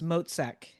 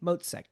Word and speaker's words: Motzek: It's Mozack. M O T Z E K. Mozek, just like it's spelled.